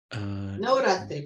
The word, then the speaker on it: Navratri: Navratri.